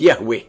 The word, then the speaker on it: Yahweh: himself as I am, which in Hebrew is pronounced Yahweh. And the Almighty continues by